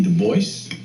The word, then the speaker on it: Du Bois: black david levering lewis w.e.b du bois yes he always insisted on that pronunciation uh he did not like the gaelic pronunciation though in his antecedents he was partly french look at this nigga's